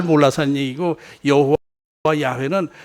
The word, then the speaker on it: 야훼: 자료를 포로 해서 알아보니까 예 여호와 가리고 야외 야외 발음이 야외가 맞는 것이다 그래야지 여호와 라고 우리가 쓰기도